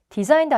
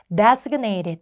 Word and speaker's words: designated: designed 아닙니다. 제대로 읽으셔야 돼요. designated 이라고 읽어서 지정된 이란 뜻이에요.